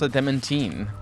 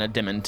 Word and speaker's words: adamantine: the secret to forging adamantine well apparently it's pronounced a dementin rather than a demon which I believe is how I used to